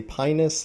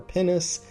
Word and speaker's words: Pinus: Biologists have told me that technically yes, it is pronounced like the bodily organ in Latin, but to avoid the giggles, they generally say pinus or pinus, and so that's what I'll say.